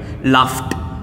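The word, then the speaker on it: laughed: ये देखिएगा, फ साउंड, फ साउंड आया तब भी आप ईडी का उच्चारण ट करिएगा, लाफ्ट, काफ्ट।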